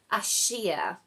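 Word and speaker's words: Akasha: and it's the element Asia I do believe that's pronounced a k a s h a so it's about the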